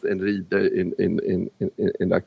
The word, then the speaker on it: Einride: Uh, and it's pronounced Enri in in in in that context and it's sort of a another word for for Thor.